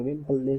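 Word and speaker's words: Vempalle: और दूसरा हमारा हो जाता है आपका वेमपल्ले वेमपल्ले शेल। ठीक है, प्रोनाउंसिएशन भी साउथ इंडिया से करेंगे, वेमपल्ले शेल।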